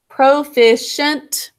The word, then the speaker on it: proficient: Proficient is mostly basic code. But make sure for that last syllable, you're sounding it out as shent.